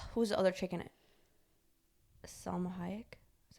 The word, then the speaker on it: Salma Hayek: someone in his office like whose other chicken salma hayek is how you say her name but remember